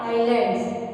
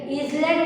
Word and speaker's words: island: एंड fifth point है the coastal plains एंड आइलैंड्स। इसका spelling है ISLAND। ईजलैंड नहीं बोलते हैं, उसको आइलैंड बोलते हैं, एस इसमें साइलेंट होता है, ओके।